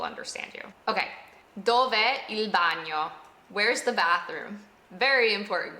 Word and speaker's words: bagno: Dov'è il bagno? Dov'è il bagno? You might notice that bagno has a G and O, and that sound is not very common in English. It's almost like no, but less sharp.